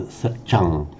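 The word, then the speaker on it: saccaṃ: satyam pure m sound in parley satang it's normally pronounced nowadays with a l sound satang Back in the time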